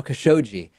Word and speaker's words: Khashoggi: Trump said about the killing of Jamal Khashoggi, notice how I've updated my pronunciation now, Khashoggi.